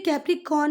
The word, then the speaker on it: Capricorn: यहाँ पर आर भी आएगा, वो तो वाल पहले है तो हम आर का प्रोनाउंसिएशन नहीं करते। तो कैप्रिकॉर्न है वो, पर बोलते क्या है? कैप्रिकॉन।